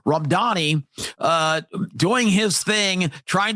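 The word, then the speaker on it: Mamdani: So, as you watch uh Zoran Ramdani uh Randani, I I always want to say Danny because that's how it's spelled. Ramdani uh doing his thing,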